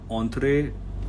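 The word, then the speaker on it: entrée: Entree. Sit. That's right. Entree.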